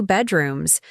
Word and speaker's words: bedrooms: The word bedrooms has stress on the first syllable. Bedrooms, not bedrooms.